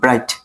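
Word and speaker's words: bright: আছে এখন আমি বলতেছি যদি শব্দের শেষে জি এইচ টি থাকে তাহলে জি এইচ বাদ জাস্ট টি উচ্চারণ হবে যেমন এম আই এ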